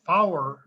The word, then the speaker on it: four: not four because four is for instance but flower is how you pronounce for in numerals so you say 198 flower instead of 1984.